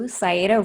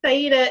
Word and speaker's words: Saiedah: Like, it's not Saiedah, it's Saiedah. They put a little bit more emphasis on it, but quite honestly, I don't care too much.